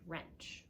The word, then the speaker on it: wrench: E and ch pretend the W is not there and start with ERV this is or and wrench a tool okay now our next one